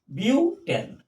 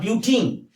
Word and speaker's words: butane: 2 3 dimethyl methyl methyl butane butane. Tane, not butene. The pronunciation is very important.